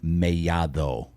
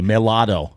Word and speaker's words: Mellado: Like the normal gringo is going to say Mellado. Yes. Right? They look at 2 L's and say Mellado, but not me.